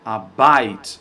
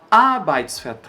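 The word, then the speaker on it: Arbeit: palavra a significa trabalho muitas pessoas colocam a sílaba tônica aqui ó abyte mas está errado a sílaba tônica é sempre nesse nessa primeira sílaba nesse primeiro a então mesmo que essa palavra seja enorme assim a gente vai colocar mais força naquele lá então a gente vai falar a bike a gente não vai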